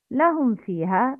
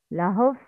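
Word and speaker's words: لهم فيها: In this word, lahum fiha, mim sakina should be clarified. It's lahum. Please repeat after me the correct pronunciation. Lahum fiha. The wrong is lahuf.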